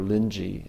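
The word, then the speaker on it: Linji: been many generations since renai or lyi as his name is pronounced in Chinese uh still to this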